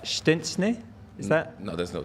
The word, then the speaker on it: Szczęsny: You somehow made it sound like there was a T involved. Is there not? Not true. Show the clip. Wojtek Szczęsny.